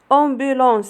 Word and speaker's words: ambulance: ambulance s'écrit avec AM et aussi se prononce on.